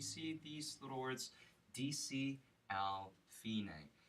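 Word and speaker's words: fine: these Lords DC al fina you might say like DC alpha but fina is the Italian pronunciation of finish what this means DC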